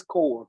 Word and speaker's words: Kaur: Kaur to talk about navigating mental health services. What you got for us, Mr. Kaur? Is it Kaur? Yeah, it's core.